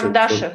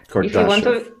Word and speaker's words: Kardashev: Kardashev said that, how did you pronounce Kardashev. it? Kardashev.